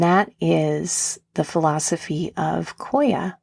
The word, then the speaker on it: Qoya: And that is the philosophy of Koya, which is spelled Qoya.